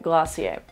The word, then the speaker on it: Glossier: Don't worry, we've demystified it, Glossier.